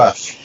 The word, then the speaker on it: Rush: You have athletes who, I'm thinking Rebecca Rush, I guess, as far as leading it, but is it Rush or Roosh? I just pronounced it horribly. Rush.